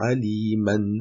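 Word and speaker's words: عليما: Donc effectivement, si on s'arrête sur le mot aliman, on prononcera le alif. Quand on remplace bien at-tanwin à l'arrêt par un alif qui est prononcé de deux temps. Donc au lieu de dire aliman, on dira alima.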